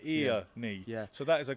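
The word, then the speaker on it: Earnie: He spells it E-A-R-N-I-E. Most people would spell it E-R, with an A. He's like ear-knee.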